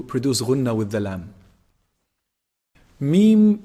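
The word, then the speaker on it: م: Mim is pronounced from the lips. When you bring both lips together, when you combine both lips together, when they close up, this is mim. And there's some nasal sound also coming from the nose.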